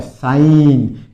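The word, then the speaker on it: sign: साइन। इसमें जी साइलेंट रहता है। ध्यान रखना। बो सिग्न सिग्न बोलते हैं। सिग्नल नहीं होता है। साइन मतलब जी इसमें साइलेंट रहेगा।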